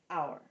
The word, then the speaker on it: hour: our silent letter okay we're not going to say power we're gonna think hour but we're gonna say our and then we're gonna